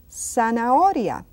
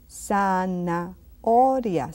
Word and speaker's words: zanahoria: And then the Z, Z, we say zanahoria. Zanahoria. Say it with me, zanahoria. Zanahoria. And what does zanahoria mean? Carrot. You can see that the H is silent.